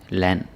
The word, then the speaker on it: land: Next one is an or and, and. It's the same pronunciation. Kan, van, land, dan.